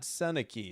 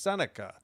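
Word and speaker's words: Sennecke: It is not Senaki, it's Senica. Even though it's spelled Saki Faber up the middle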